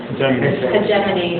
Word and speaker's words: hegemony: like this, but there's a term called intellectual hegemony, or some people pronounce it hegemony.